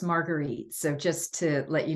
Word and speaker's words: Marguerite: name is actually pronounced Marguerite so just to let you know it's like the drink without the a I got the last